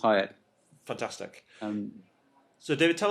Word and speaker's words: Hieatt: Because Hieatt. Yeah, it's a mouthful, but it's pronounced Hyatt.